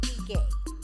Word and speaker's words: Ige: it's from the EUR tribe and they actually pronounce it eay eay so it means born feet first and